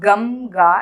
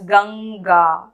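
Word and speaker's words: गङ्गा: write like this then they'll be pronounced as umkani gamga but that is not how it is pronounced it is so it has to be written like this it's not gamga it's ganga i hope this video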